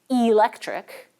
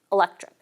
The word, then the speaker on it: electric: For example, we don't usually pronounce this word as electric. Instead, the vowel from that first unstressed syllable gets reduced, and we say electric.